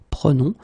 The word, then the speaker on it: prenons: Okay, keep in mind that you should pronounce it prenons, vous prenez, and then the last one, the tricky one, ils prennent.